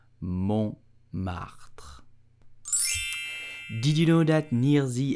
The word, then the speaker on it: Montmartre: You will say Montmartre. Montmartre. Please do not pronounce it Montmartre. It's totally wrong. Please do Montmartre.